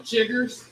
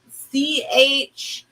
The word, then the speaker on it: chiggers: me to spell it it was spelled c-h-i-g-g-e-r-s jiggers yeah chiggers i i never heard